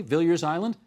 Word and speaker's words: Villiers Island: and talk about something called Villiers Island. Have I pronounced that properly? Villiers Island? That's right. Okay.